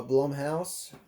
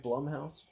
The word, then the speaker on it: Blumhouse: premise is similar um this is from bloem house is that right blumhouse that's what i would say my boss's name was blum andy blum and so like i feel like it's blumhouse spelled the same way um okay so uh